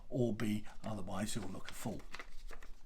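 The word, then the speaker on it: Orbea: and this is pronounced or b because the uh in the basque language that b e a there at the end is pronounced uh b like the uh uh like the bug the insect the b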